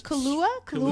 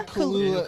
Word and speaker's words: Kaluuya: I cannot pronounce his last name. I think it's almost It's Kaluuya. Yeah, Daniel Kaluuya.